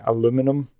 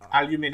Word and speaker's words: aluminum: I'm going to say aluminum. Aluminium. I know. Aluminium. The Americans say it wrong.